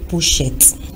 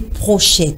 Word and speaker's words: pochette: ce soir nous découvrons la bonne prononciation du mot pochette c'est un mot qui est parfois prononcé prochaine par certaines personnes et par définition la